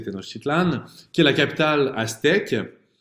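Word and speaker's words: Tenochtitlan: m'avoir donné des cours pour me rappeler comment prononcer tenositlan qui est la capitale aèque évidemment très peuplé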